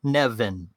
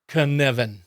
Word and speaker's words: Cynefin: Say the word Kevin. Kevin. Yep, and now put a N in the middle of it. My dog's excited about it too. So it sounds like this, Knevin. Knevin. Perfect. You said it exactly right. Now try to spell that. I won't bother, but you might want to look it up and put it in your show notes. It's Cynefin.